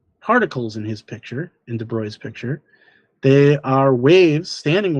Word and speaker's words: de Broglie: Uh this guy, Louis de Broglie, not de Broglie, it's pronounced de Broglie.